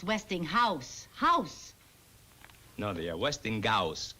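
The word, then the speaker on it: Westinghouse: the lowest prices where did you get this Weston Gus catalog Weston Gus it's not Westing Gus it's westing house house no they Westing Gus Gus how do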